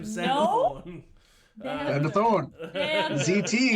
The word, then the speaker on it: Xander: name Zack Taber my name is zand Thor Zander Thorn ZT X like a cool X yes it's spelled with an X yes Tander sounds automatically